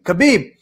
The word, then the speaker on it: Khabib: like fizzy's uh how do you say it khabib you got it rematch trivia for 200 rematch trivia 200.